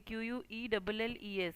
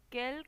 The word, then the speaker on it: quelle: Then quelle crème préfères-tu? Quelle crème? Crème say feminine, feminine singulier, so quelle. Pronunciation of all these words are same.